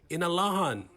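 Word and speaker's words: Inalåhan: of the village of inurahan to the chamorro pronunciation in alahan it is the impact bill 60 will have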